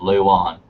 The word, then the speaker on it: Luan: And Edgar Natras is verifying that it is pronounced Luan.